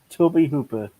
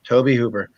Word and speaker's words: Tobe Hooper: So Gunnar Hansen was actually born in 1947, and Tobe, pronounce his name for me. Toby Hooper. Okay, Tobe Hooper.